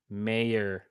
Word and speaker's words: Mayer: proper pronunciation in Peru mayor like the mayor of a town okay shout out Matthew